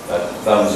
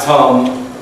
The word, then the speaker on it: thumb: up go ahead perfect thumbs up thumb thumb thumb not tumb not tumb but THB th very good good job